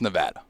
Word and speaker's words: Nevada: pennsylvania or from georgia by the way it's pronounced nevada i'm just saying i have family from nevada